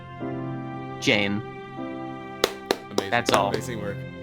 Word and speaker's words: Jan: times we mispronounced it, he didn't mind us calling him Jan instead of his actual name. So I'm finally gonna pronounce his name correctly. Jane.